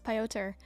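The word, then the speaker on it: Piotr: It's pi. Oh, pi like the constant. So pi o... What would be the TR? Like tur? Like pi o tur?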